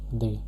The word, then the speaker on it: les: This will be used with a masculine or feminine plural noun, pronounced as they.